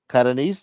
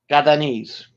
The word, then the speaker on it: Catanese: Catanese, that's how you say it? Catanese, yep. Catanese. If you're from Catania, you're Catanese. My grandmother was from Bari, so she's Barres.